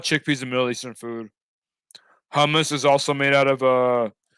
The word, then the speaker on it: hummus: from what I've learned, the H's are very pronounced in Arabic. Hummus. I think that's how you say it. There's a lot of attention or like a lot of effort into the H's in Arabic.